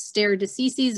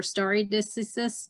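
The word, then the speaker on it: stare decisis: theory the supreme court uses stair diseases or starry distances depending on how you want to pronounce it all those latin terms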